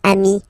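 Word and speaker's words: amis: here okay but then technically you pronounce it the same way so single form Ami plural form you add this s but it's Ami as well okay in that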